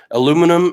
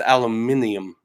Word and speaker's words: aluminium: metal it's been stolen aluminum and maple and fine hardware according to Mike he said it wrong it's aluminium aluminium he's that's the British in him so we got some